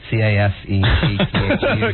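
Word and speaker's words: Csejte: And then we have a real helpful pronounced Cassethe.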